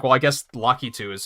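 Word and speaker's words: Lakitu: like in my mid-20s I thought it was lockitude and of course right away I was like well I guess lucky too is how you pronounce it in Japanese so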